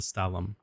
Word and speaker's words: Stalum: I'm probably going to butcher the pronunciation, but I chose the stallum or based off all the French aesthetics of the game, it's probably pronounced stall.